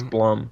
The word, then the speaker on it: Blum: It's Blum. Oh my god. I heard something on YouTube. I watched a video and it said Bloom, and then now it's stuck.